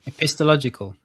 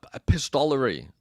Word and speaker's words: epistolary: The epistological. No, epistolary. The use of letters.